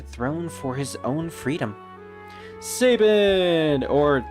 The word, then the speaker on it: Sabin: Sabin! Or Sabine, apparently, is how some people pronounce him.